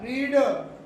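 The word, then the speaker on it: read: आर ई ए डी, लेकिन बोलने में प्रोनाउंसिएशन अलग है बिल्कुल। आप बोलोगे रीड, सामने वाला समझ जाएगा V1 है। आप बोलोगे रेड, सामने वाला समझ जाएगा V3 V2 है।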